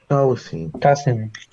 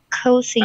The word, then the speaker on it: cousin: Es como de cocinar. Cousin. Sí, por ahí va exactamente. Cousin. ¿Cierto? Entonces, nunca, nunca más en la vida van a decir cousin, ¿cierto? Nunca más. Never more, please. Cousin. Cousin. Cousin. Cousin. La U no suena. La U no suena. Cousin.